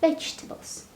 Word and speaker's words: vegetables: buy some vegetables vegetables be careful about pronunciation of the word not tables or something vegetables all right so again